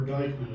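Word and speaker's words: Dyckman: by the name of Brahm Deman or or Dyman it's commonly pronounced.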